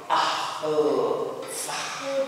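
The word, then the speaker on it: άλφα: nama hurufnya itu Alfa itu bunyinya itu Al ah Fah Alf ahfah harusnya begitu ya cuman karena kita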